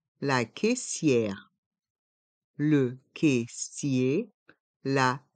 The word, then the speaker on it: caissier: caisse la caisse le caissier la caissière le caissier la C sière les voyelles a et i dans ce mot se prononce e Kier dans le mot